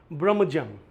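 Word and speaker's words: brummagem: ये जो डी जे का साउंड है जेड का, ये ज प्रोनाउंस करते हैं, इसे फोनेटिक ट्रांसक्रिप्शन बोलते हैं, ठीक है।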